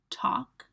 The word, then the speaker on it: talk: Talk. Walk. Run. So just a point to make there, you don't pronounce the L in walk and talk. Nobody pronounces it. It's what we call a silent letter.